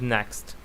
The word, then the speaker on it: NECST: These are the 5 commandments, termed a bit differently so as to form a memorable acronym: NECST, pronounced next.